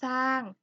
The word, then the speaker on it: สร้าง: งอ สาง ไม้ โท สร้าง เด็ก ๆ เห็น ไหม คะ เรา จะ ไม่ ออก เสียง เรือ นะ เรา จะ ออก